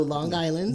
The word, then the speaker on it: Long Island: so I appreciate you put the G on there actually it's a hard G um So Long Island yes I moved to Erie Pennsylvania First in 2008.